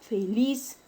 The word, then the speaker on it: feliz: El término feliz, su mayor fuerza de voz recae en la sílaba lis, que está ubicada en la última sílaba. Y no lleva tilde porque termina en una consonante diferente a N y S y no termina en una vocal. Por lo tanto, es una palabra aguda sin tilde.